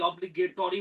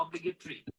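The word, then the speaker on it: obligatory: এরপরে আছে হচ্ছে অবলি আমরা বাঙালিরা বলি অবলিগেটরি উচ্চারণ হচ্ছে অবলিগেটরি ইত্যাদি এই যে শব্দগুলো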